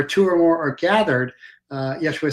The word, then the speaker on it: Yeshua: YESHUA, which means Joshua, which means God saves, or you could just say Josh.